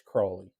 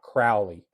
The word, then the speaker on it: Crowley: He said that it was Crowley, and he had a little jingle to remind you that it's Crowley and not Crowley. Okay. And what it was it's Crowley because he's holy, but